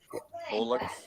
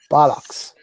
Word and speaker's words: bollocks: you guys say bullocks. Is that the same as BS? No. Kiko, it's not how you pronounce it. This is how you pronounce it. Bollocks.